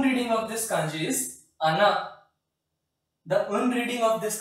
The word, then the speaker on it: 穴: Kun reading of this kanji is ana.